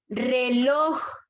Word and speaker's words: reloj: ¿Dónde lleva la fuerza de voz? Lor. Lor. Por lo tanto, es aguda. Lleva la fuerza de voz en la última sílaba. Amistad, última sílaba. Dolor, última sílaba. Reloj.